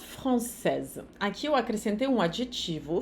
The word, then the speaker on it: français: Une étudiante française, uma estudante francesa. Enquanto no masculino vai ficar un étudiant français. O T de étudiant e o S de français não se pronuncia.